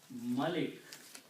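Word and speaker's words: مَلِك: the same three letters malik malik means king malik means king but malak means angel okay so but the word we are using in the quran is the first one which is muller so we have to focus on that we don't need this one but it is important that you pronounce correctly otherwise the meaning changes okay so it's plural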